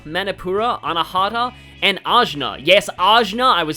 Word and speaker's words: Ajna: Yes, Ajna, I was saying it wrong all those previous videos.